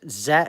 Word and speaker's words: Tse: Matthew Z it's and the surname is pronounced Z what is TSE so yeah young undergraduate